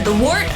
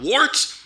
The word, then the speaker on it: Wort: It's pronounced the Wort. What is it? The wort? Yeah, okay, I'll do that again. This is the Wort on Govs Radio. It is the Wort. Not wart, not fort, not short.